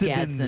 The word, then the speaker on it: Gadsden: I think it's Gadsden. It's just Gadsden. Ginger Gadsden.